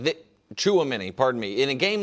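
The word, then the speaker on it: Tchouaméni: And I apologize if I mispronounce the France midfielder's name, Tuchamini. And I think I did mispronounce it. I apologize. But he the in a game like the Chuamini, pardon me.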